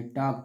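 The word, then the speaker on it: talk: the letters are silent कुछ word ऐसे होते हैं जिसमें लेटर क्या होते हैं साइलेंट होते हैं जैसे डब्लू ए एल के इसको वाक पढ़ा जाएगा टी ए एल के टॉक पढ़ा जाएगा इस तरह से उसके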